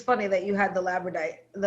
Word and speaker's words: labradorite: I think it's funny that you had the labradorite, I can't say that word, labradorite. Labradorite. Like missing a syllable.